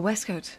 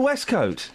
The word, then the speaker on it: waistcoat: of a certain generation it's pronounced and I think you'll agree with me West code or wescoat it's pronounced the West coat that's how you pronounce it what if we were